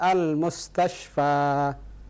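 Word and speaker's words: المستشفى: Hai akhirnya ketika membacanya Jangan lupa dipanjangkan al-mustashfa file-nya dipanjangkan salah kalau antum baca al-mustashfa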